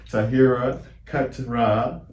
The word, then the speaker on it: Taahira Keturah: So thank you again, Taahira Keturah.